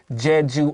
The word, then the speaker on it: Jeju: i'm going to use a very clear american accent here jeju island but anthony because his pronunciation is so clear you're going to hit us with tedu yes there we go